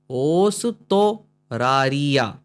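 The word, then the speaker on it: オーストラリア: ये बीच में सेन है खींचेंगे ओस ओस ओस तो रारिया ओस तोरारिया ओस तोरारिया ओस तोरारिया है ना मीनिंग ऑस्ट्रेलिया।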